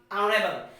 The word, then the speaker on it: honourable: HONOURABLE, honorable. So we have understood that if See, there are some words that contain H as a silent letter.